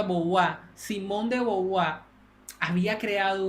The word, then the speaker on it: Beauvoir: lo más que pueda, porque esta mujer llamada Simone de Beauvoir, así es como se pronuncia, así se escribe, pero se pronuncia Beauvoir.